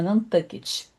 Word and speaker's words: Nantucket: Essa ilha pertence ao estado de Massachusetts e ela se chama, esse lugar se chama Nantucket. se escreve tuet, mas se pronuncia tu tuget.